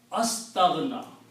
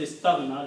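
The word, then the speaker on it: استغنى: Astaghna. Okay, the actual word is istaghna.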